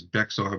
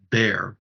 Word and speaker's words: Bexar: used to pronounce as Bexar but realizing that it is bare which is uh the